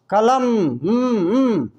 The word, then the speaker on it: कलम: उसी तरह से म, कलम, लास्ट में क्या है? म का पूरा उच्चारण म नहीं होता, आधा कट करके।